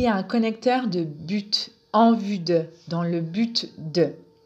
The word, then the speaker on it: en vue de: un connecteur de but en vue de dans le but de sa prononciation est simple c'est en vue de en vue de n'oubliez